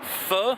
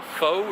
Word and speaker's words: pho: Show you guys what a French market's like, and hopefully get some Vietnamese pho, I think it's pronounced, or pho, it's spelled P-H-O, but we'll see.